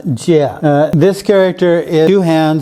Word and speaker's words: 戒: And this character is pronounced Jia.